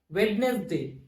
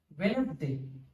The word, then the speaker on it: Wednesday: So in the word and, many people and many students pronounce this as Wednesday. No, it pronouncing in this way, it is wrong. This word must be pronounced as Wednesday. This D is a silent letter.